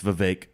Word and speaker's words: Vivek: No, it's Vivek.